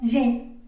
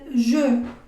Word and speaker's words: je: Por ejemplo, yo no voy a pronunciar la primera persona del singular como je, ¿no? Je sería como la forma en la que yo pronunciaría esto como hablante del español, que lo lee literalmente, ¿no? Je. Pero resulta que esta E de la primera persona del singular se dice je.